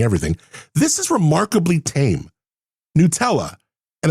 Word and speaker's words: Nutella: Nutella, and I know a lot of people say Nutella. It's actually pronounced Nutella, from what I understand.